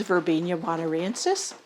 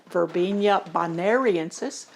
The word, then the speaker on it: Verbena bonariensis: One of them is Verbena bonariensis. I know a lot of people pronounce it Verbena bonariensis, another one of those things, and others that I have around.